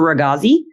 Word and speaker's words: Ragoczy: Master Raghazi. It's spelled RAGOCZY.